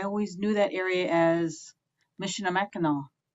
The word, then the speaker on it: Michilimackinac: And so when I was over there, I always knew that area as Mishinamakinaw, or pronouncing it the English way, Mishalamakinaw.